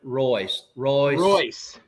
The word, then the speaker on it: Royce: So, and Lucky's last name, Randy, is pronounced Royce. Royce.